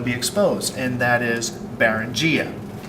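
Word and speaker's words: Beringia: exposed and that is barangia baruchia as you can see the pronunciation here bear run gia was a land bridge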